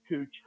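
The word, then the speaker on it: couching: this part is called cooching and um that is a french word that's spelled like the american word couch but it's pronounced cooch so we're gonna roll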